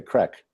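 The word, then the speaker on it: craic: Actually, I think they say crack. That's the term they use here. But it's not spelled crack. It's spelled C-R-A-I-C, I think.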